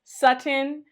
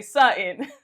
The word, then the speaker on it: Sutton: I'm aware that it is sutin, but it just feels so weird on the tongue to pronounce both T's.